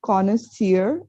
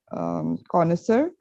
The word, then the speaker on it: connoisseur: So it's connoisseur and not connoisseur, behavioral, not behavioral.